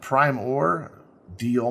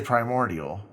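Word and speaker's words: Primordeal: uh started yeah and you have to say it like that you can't just say primordial because it's primor deal mining It's a combination of the two companies um I wanna I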